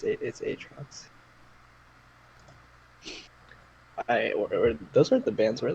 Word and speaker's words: Aatrox: Do you pronounce it Aatrox or Aatrox? It's Aatrox.